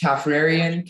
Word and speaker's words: Caffrarian: Your word is Caffrarian. Can you repeat the word? Caffrarian. Could I have everything? The word can be pronounced Caffrarian, Caffrarian, Caffrarian, or Caffrarian.